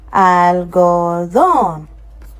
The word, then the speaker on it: algodón: It's ending with an N. It would have been part of the first syllable. I mean, of the first rule. But now we can see that that rule has been broken. So we are now getting algodón.